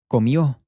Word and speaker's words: comió: He, she, or it ate, comió. This I-O makes this yo sound, comió.